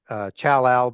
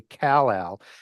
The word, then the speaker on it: Kal-El: Sometimes I say Chal-Al, but it's technically Kal-El. And just as when Wow, that's like Superman.